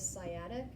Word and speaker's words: sciatic: nerve in the body it is called this sciatic nerve okay this fee is silent seiyya and you may have heard of